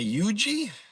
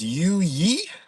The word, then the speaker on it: Yui: It's not Yuji or you. It's not Yugi like Yu-Gi-Oh. you. So, it's yui.